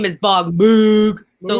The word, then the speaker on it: Moog: And I mean, his name is Bob Moog. So Moog. Like Moog. Got it. Kenny, what's your answer? Yeah, so people pronounce it both ways, but Bob Moog started building theremins, the thing that goes like, woo!